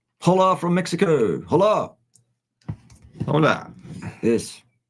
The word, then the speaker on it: hola: Hola from Mexico. Hola. Hola. Yes. I don't know very much Spanish. H is silent. Just like hola.